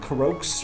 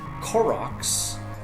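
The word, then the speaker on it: Korok: you know that there are like what 900 corro or as I recently learned by watching E3 coverage properly pronounced cororo which just sounds wrong to me but anyways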